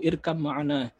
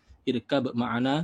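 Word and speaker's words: ارْكَبْ مَعَنَا: Itu dia, ya bunayya, ya anakku, irkam ma'ana. Irkab ma'ana, tapi bacanya irkam ma'ana ya.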